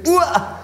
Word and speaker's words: Uhr: wort uhr oft verwendet die aussprache ist natürlich wichtig nämlich ua das kupfer aus dem